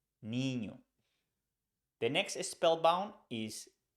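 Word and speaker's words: niño: a line on top you pronounce this letter like the word Canyon so we pronounce um like Canyon an example in Spanish is the word Nino which means boy Nino Nino the next is Spellbound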